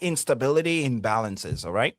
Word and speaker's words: instability: Donc instability ici le problème se trouve surtout au niveau du stress.